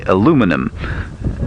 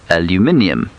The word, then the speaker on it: aluminium: The British love to complain about the fact that the Americans say aluminum, when the British think, of course, that it should be aluminium, which is what this beastly Land Rover I'm driving is made of.